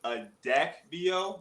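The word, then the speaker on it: Adakveo: what do you think about uh medication called a deck vo does that sound familiar yes so yeah and you you pronounced it you you pronounced it right so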